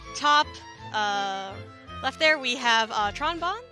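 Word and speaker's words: Tron Bonne: So up in the top left there, we have Tronbon. I think it actually has to be pronounced Trombone.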